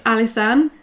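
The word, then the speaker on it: Alysanne: Well, my middle name is, so it's Alisane.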